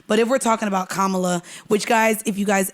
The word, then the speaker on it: Kamala: But if we're talking about Kamala, which guys, if you guys ever don't know how to say her name, say comma. Like commas and then la. It's that easy. Kamala.